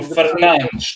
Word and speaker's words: Fernandes: Bruno Fernandes. That's how you actually say it in Portuguese.